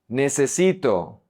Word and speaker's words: necesito: Necesito, necesito. Attention with the E's.